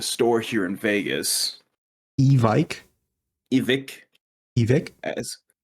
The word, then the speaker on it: Evike: Vegas evik evik evic do you know how to pronounce their name or you don't I do it's evik okay uh but iik is I hear some people randomly call it and then as Siri calls it evok EV so it's a